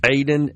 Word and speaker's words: Aayden: I guess it's pronounced Aiden. It's Aayden.